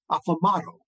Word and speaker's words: Aplomado: are the progenitors of Aplomado. Rhymes with tomato.